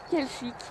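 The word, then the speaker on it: Quelchic: Et bien, il s'appelle Kelchic. Voilà, ça s'écrit Q U E L C H I C tout simplement.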